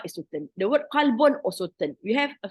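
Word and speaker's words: قلب: The word qalbun, qalbun is the heart. Qalbun. So the pronunciation is very important.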